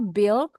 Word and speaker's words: build: in increase stamina pelan-pelan ini bacanya build u-nya enggak enggak dibaca build these exercises build